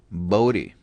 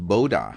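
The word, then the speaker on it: Bode: pronounce his last name bodhi it's a dutch name in dutch it's pronounced boda according to wikipedia but in english also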